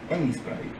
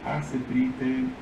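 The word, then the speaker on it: Aseprite: Se pronuncia ASPrite, pero igualmente le pueden decir ASPrite, como quieran, pero ASPrite es, o algo así, su pronunciación oficial, se podría decir, pero no soy un nazi, diría, de la pronunciación del programa.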